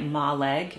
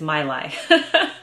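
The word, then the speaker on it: Maileg: brand of children's toys I have been pronouncing it incorrectly for several years I've been calling it mle that's wrong it's my lie but their philosophy is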